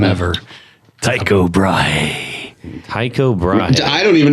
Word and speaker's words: Tycho Brahe: Tycho Brahe. Tycho Brahe. I don't even know if I say it right. I know you are saying it right. Is that right? Yeah. Yeah. Tycho Brahe.